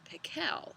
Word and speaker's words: Pickle: pickle okay so we're gonna go ahead and start actually his name was dr. pickle with the accent on this second syllable but that wasn't why everyone called him dr.